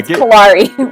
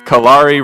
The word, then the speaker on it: Kalare: Kalare rhymes with safari. Kalare rhymes with safari.